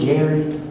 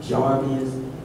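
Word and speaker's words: Jairus: neighborhood where jarvus live you can pronounce it jerus jarvus but he was in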